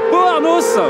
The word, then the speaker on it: Pau-Arnos: Les amis, bienvenue à Beauharnos. Faut bien prononcer le S pour la 4e épreuve du FSBK et poursuivre monsieur Martin Renaudin.